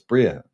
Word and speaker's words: Bria: It's Bria. It's not Briar. I used to call it Briar, but now Bria is the name.